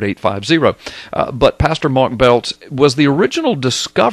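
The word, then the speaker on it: Biltz: Blood Moons by Mark belts b i l TZ but you pronounce it belt um he uh he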